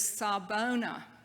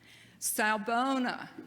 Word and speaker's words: Sawubona: Africa, and he said the Zulu language is pronounced just like it's spelled, so it's really easy to follow along. Sawubona, say it with me, Sawubona.